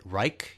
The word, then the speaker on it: Reich: you can pronounce it Reich, you can pronounce it Reich. Reich? He that too. Yeah. Anyway, he pronounced his own surname Reich.